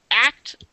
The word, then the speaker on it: ACT: a therapy called act I keep calling it actn that's not actually how you're supposed to pronounce it it's supposed to be pronounced act